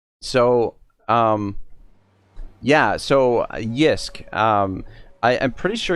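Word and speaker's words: JYSK: but there's this um there's this company called yisk uh it's very similar to ikea it's spelt uh here let me spell it for you in the chat uh j y s k so um yeah so yisk um i i'm pretty sure you can probably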